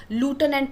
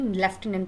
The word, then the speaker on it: lieutenant: अभी मैंने आपको प्रोनाउंसिएशन बताया लेफ्टिनेंट का, कि अमेरिकन इंग्लिश में हम उसको लूटेनेंट प्रोनाउंस करते हैं और ब्रिटिश इंग्लिश में लेफ्टिनेंट प्रोनाउंस करते हैं.